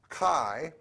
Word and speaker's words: Chi: had the Greek letter Chi which we pronounced in English as a hard CH with a and had